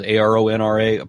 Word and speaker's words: Aron Ra: And I don't know what else to say about that except that, my name is ARONRA, pronounced Aron Ra.